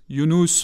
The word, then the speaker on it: Younous: Younous, ça s'écrit Y-U-N-U-S. Et en rajoutant un O, ça fait Younous.